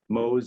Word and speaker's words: Mohs: mohs micrographic surgery and no it is not mole surgery mohs is spelled mohs and it refers to